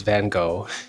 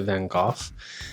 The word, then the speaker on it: Van Gogh: However, I've read that the Dutch will often pronounce it as Van Hawk.